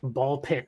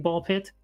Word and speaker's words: BALL x PIT: this year is like Ball Pit. Have you seen Ball Pit? No. Ball X Pit. It's Ball X Pit, but you don't pronounce the X.